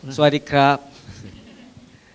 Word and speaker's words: สวัสดีครับ: สวัสดี สวัสดีครับ Swadikap.